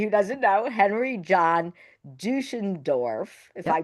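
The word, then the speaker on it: Deutschendorf: And his name was, for everybody who doesn't know, Henry John Duschendorf, if Yep. I pronounced it You correctly.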